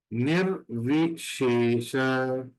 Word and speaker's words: निर्विशेष: There is a minor difference between the pronunciation. The first S जो apostrophe है वो शंकर का श है, और the second S